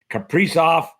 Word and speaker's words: Kaprizov: Kaprizov, is that how you pronounce his name?